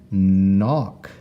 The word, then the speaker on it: knock: And that one actually has a silent K in the front. We don't hear that K. We just hear the N that comes after it. So K N gives us the sound knock.